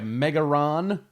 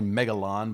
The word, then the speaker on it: Megalon: We have Megaron, which is actually Megalon, but they've seen fit to misspell it here on the card.